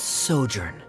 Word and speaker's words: sojourn: well is everything clear simos how do you pronounce this word let me see Ah that's sojourn it means to stay for a while this